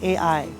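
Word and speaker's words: ʻai: And it's spelled okina, that's a glottal, ai. But the word ai without the okina means to make love.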